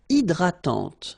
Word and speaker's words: hydratante: Une crème hydratante. So remember, H is not existing, and then this Y is pronounced like I.